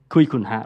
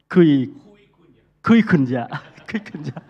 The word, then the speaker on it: Kui Kun Ya: Mars, for inviting me, and Marco Jazz Association, and Kui Kun Ha, right? How to pronounce it? Kui Kun Ya. Yes.